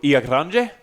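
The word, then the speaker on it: Ilha Grande: We went to a place called Ia Grande. Ia Grande. It's for you guys that can't really understand how Portuguese is written and therefore pronounced. It's Ilhagrande. But in Portuguese, it's Ia Grande.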